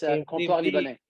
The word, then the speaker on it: Comptoir Libanais: of the restaurant is Comptoir Libanais. It's a very difficult word to pronounce. It's French name. Yeah, it's Comptoir Libanais.